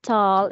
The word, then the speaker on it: tall: The spelling of tall is letter A. There's a letter A, but when you speak it, when you pronounce it, is O.